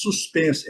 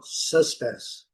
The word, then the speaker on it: suspense: Nós falamos suspense. Essa aqui é idêntica. Agora eles falam suspense. Suspense. Suspense.